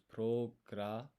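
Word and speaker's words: プログラマー: So we need pu, ro, ku, but the U sound is omitted when you pronounce this. It's programa.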